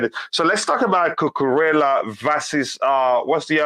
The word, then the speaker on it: Cucurella: Yeah, it is Cucurella.